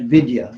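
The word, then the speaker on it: विद्या: It's pronounced Veda, and Vidya.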